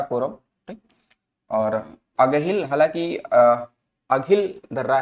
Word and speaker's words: अघिल: तो जो ये ऑप्शन सी लिखा है ना, अगहिल, इस ये अगहिल नहीं, ये अघिल दर्रा है, थोड़ा सा उसमें से अलग उच्चारण है इसका, ठीक है।